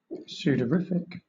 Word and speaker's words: sudorific: What does pseudorrific mean, chat? causing or increasing sweat. Sudorific.